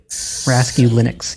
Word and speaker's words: Raskulinecz: Because I've never known how to pronounce it. Dude, it's a mouthful. Raskulinecz.